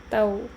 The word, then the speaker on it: ទៅ: is the consonant ត and then with the vowel អូ Tao.